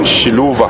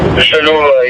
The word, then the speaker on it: Xiluva: So confirm the pronunciation on that again. Xiluva. Xiluva, yeah, but I think there was another Mafalingwe a couple of years ago, also that name.